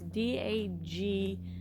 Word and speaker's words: Dagny: Here are some of the walking paths and I'm gonna slaughter this name, but I'm pretty sure it's pronounced Dagny. Okay, never mind. It's Dagny Johnson Wildlife Trails Botanical Trails.